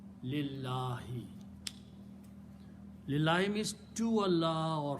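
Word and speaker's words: لله: Harf jar changes this last letter to a kasra, and when you pronounce, you combine lam with the other lam. Don't pronounce alif in between. Lillahi.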